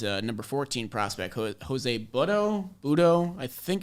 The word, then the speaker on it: Butto: his last name is butto you never know so kind of i mean if he's if he's jose you want to pronounce it with the latin approach it's bhutto all right i like